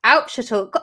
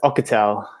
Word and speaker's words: Auchettl: a an old one it's pronounced ocatel there's me saying that